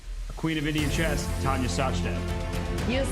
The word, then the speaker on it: Tania Sachdev: eric rosen against a queen of indian chess tanya sachdev you said it right robert welcome everyone i